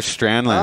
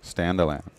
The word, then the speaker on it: Staniland: Tyler Strandland. Oh, Staniland? Oh. Yeah, Tyler Strandland. That was sick. How do you say it? Staniland. Staniland. No D. Staniland. Staniland. S-T-A-N-A and then land.